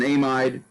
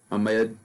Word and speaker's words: amide: It's an amide, amide. Any one of those is the correct pronunciation.